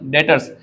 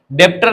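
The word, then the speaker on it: debtors: डेटर्स, example डेटर्स, डेप्टर नहीं बोलते ना, बी साइलेंट रहता है।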